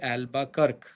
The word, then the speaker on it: Albuquerque: His name is Alfonso de Albuquerque. Not Kerky, but Kirk. I've always emphasized this. Not the right pronunciation of Albuquerque's name. Not Albuquerque, Albuquerque.